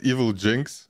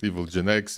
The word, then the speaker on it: Evilginx: I call it Evilginx, but Okay. it's also fine if anyone calls it Evilginx, Evil Gen X or whatever.